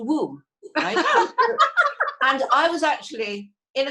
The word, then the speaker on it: Wome: guy named called mr i'll spell it for you w-o-m-e but when he said it it was i hello i missed a womb and i was actually